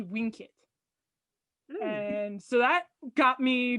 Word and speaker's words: vincit: with a v and in latin anything with a v is actually pronounced with a w so it should be winkit and so that got